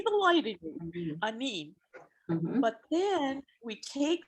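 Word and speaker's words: aaniin: We say anin, Ani?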